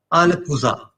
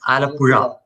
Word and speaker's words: Alappuzha: Like most of the English people, when I ask them to say this name, they would like Alapuza. Like I would try saying it, try pronouncing it. I can't try. Alapusa. It's not Alappuzha. It's Alappuzha.